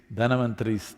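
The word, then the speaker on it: Dhanvantari: It is Dhanavantari's Trayodashi. North Indian people must connect, don't go on clipping away one syllable and come Dhanavantari becomes Dhan, Trayodashi becomes Tera.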